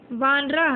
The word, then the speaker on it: वानरः: वानरः। ये हलन, तो ये जो विसर्ग लगा है इसका उच्चारण क्या होगा बेटा? ह।